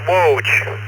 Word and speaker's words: Waj: Yeah, it's pronounced woge like uh wo ho. It's on Barney Miller, I guess.